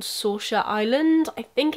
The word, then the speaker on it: Saoirse: back to somewhere called Saoirse Island. I think it's pronounced that way. It's spelled the way a famous actress's name is spelled, and I'm pretty sure her name is Saoirse.